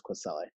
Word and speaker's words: Kwesele: is and then the last name is queselle yeah very unique game so uh this is